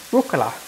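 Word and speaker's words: rucola: Mary and and Lisa, rula, which is basically how you say it in Italian is we say rula.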